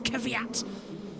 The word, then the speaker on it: Kvyat: go at me because I never could say his name right. It was Kvyat, and then it was no. She was literally hitting me in the commentary and saying it's Kvyat. In a little accent as well.